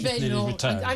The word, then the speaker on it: Badenoch: If Kemi Badenoch, her husband told me it's pronounced Badenoch. I'm going with Badenoch.